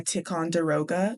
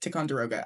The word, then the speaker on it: Ticonderoga: number two pencil, but it's very specifically a tic derogga. Is that how you pronounce it? Ticonder I mean how else would you pronounce it? Ticonderoga.